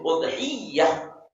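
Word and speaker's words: أضحية: Al-udhiyah bitasydid, ya, bitasydidil ya. Jadi membacanya itu udhiyah. Udhiyah, ada ya. Ya tasydidnya ya. Udhiyah.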